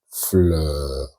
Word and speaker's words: fleurs: We also have la flamme a brûlé les fleurs. Here, there is S at the end of fleur, which is mute. You don't pronounce it.